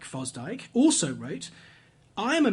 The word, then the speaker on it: Fosdick: On the other side of the debate are liberals like Harry Emerson Fosdyke.